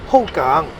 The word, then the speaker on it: Hougang: use in Singapore anyway back to the name aokang although it is derived from either Hopkin or Kyushu dialect eventually in writing with Chinese character and pronunciation in Mandarin is hogang it actually means River and in hockey or